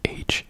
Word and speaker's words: hier: It's H-I-E-R, but the H is silent, obviously.